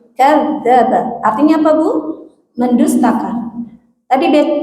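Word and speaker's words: كذّب: Seharusnya ada tasydid di za ya, jadi kadzaba.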